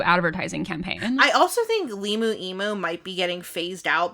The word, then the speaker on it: LiMu Emu: I did I did just realize that the reason why it's liu emu is Liberty Mutual. Liberty Mutual. I was like, Liu emu cuz it's it's it rhymes.